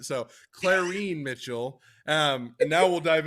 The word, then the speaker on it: Clarene: you put an extra C in there, but I'm gonna still like you, Devin. It's Clarene.